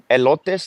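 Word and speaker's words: Helotes: So in Spanish it's elotees like elote like corn elote. But and and in English it's the the the the white way.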